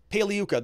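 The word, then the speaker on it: Pagliuca: they didn't put jeff pagliuco up there paley yuka the g is silent ugh they're going to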